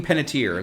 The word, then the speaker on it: Panettiere: Hayden Panettiere. That's how you pronounce it.